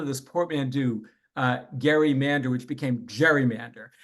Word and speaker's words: Gerry: the founding period named Eldridge Gary with a hard G um who drew up